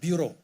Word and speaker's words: bureau: We now regulate and supervise credit bureau, or bureaus in SETSWANA. Bureau, Europeans decided to put an X at the end, which is French, but you don't pronounce the X.